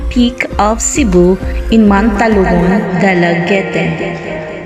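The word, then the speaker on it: Dalaguete: Going south, you could climb the Osmeña Peak of Cebu in Mantalumon, Dalagete, pronounced as Dalaget, standing at 1,013 meters above sea level.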